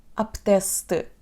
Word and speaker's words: apetece-te: Apetece-te. Apetece-te comer sushi? Apetece-te comer sushi? Apetece-te comer sushi? Apetece-te. A letra E no fim vai desaparecer na pronúncia apetece-te.